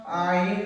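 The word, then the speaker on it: ع: তারপরে উল্টা দুয়ের নিচের দিকটা বাড়ানো, আইন তার নাম, আইন তার নাম। বাড়ানো তার নাম আইন, তার নাম আইন। আইন উচ্চারণ কেমন হবে? আইন হলকের মাঝ হতে গলা চেপে আদায় হবে।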